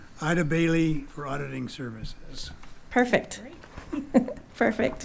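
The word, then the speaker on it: Eide Bailly: Next item is approval to enter into an agreement with, help me on the pronunciation, Ida Bailey for auditing services.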